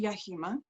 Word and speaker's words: Yahima: or am I pronouncing it completely wrong I pronounce it yahima um there is no right and wrong as